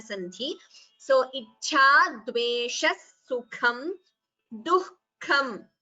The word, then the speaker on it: दुःखम्: So ichha dveshah sukham duhkham. Note the pronunciation of the word duhkham. The ha should be heard between du and ka.